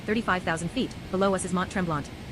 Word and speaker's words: Mont Tremblant: Ladies and gentlemen, as we continue our flight at 35,000 ft, below us is Mont Tremble. Mont Tremble, French pronunciation, Montrabla is a mountain of the Laurentian Mountains, reaching an altitude of 932 me.